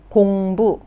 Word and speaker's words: 공부: So this word is 공부. 공부. 공부 means study. Study, 공부. So actually, 해요 means 탐. So 공부해요 meaning I study.